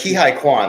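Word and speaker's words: Ke Huy Quan: It's Ki-Hai Kwan, I believe is how you pronounce it.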